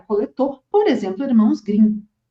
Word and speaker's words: Grimm: coletou, por exemplo, Irmãos Grimm. E é Grimm, não é Green. que o pessoal tem o costume de falar irmãos Grimm, mas Grimm seria a pronúncia em inglês, então irmãos Grimm, da Alemanha, né?